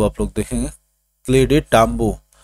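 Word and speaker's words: Clyde Tombaugh: तो ये दोस्तों आप ये प्रोनाउंसिएशन है, इसको आप लोग देखेंगे, क्लेडे टाम्बो।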